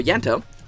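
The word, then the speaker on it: Ianto: In case you don't know, Yanto, is spelled I-A-N-T-O, is eating, Kitty's cat.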